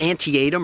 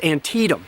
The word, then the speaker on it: Antietam: Even some of the war's very well-known battles are often mispronounced. It is not Antietam or Antiem, as some people say, it's Antietam.